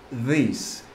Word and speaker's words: this: esta, esto, se dice this. Cuando veas la T y la H junta, pronuncias this, colocando la lengua en la parte anterior de los dientes superiores. This.